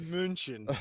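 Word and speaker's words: München: I think it's pronounced more like Munchin, but you're pretty close.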